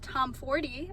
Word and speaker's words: Tomforde: There was a lot of waiting in the beginning, but the hour chat with Liz Tomforde, I learned that is how you say her name, Liz Tomforde and Melanie Harlow, was so fun.